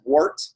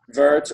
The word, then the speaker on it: wort: Brewers might not know it's not pronounced wort its vert or work depending on how Terman you want to go with it and that's just your